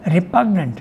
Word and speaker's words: repugnant: of active consciousness or repugnant. How do you pronounce the word? Repugnant, yes. Repugnant? Yes. Okay, the G is pronounced. The G is pronounced here.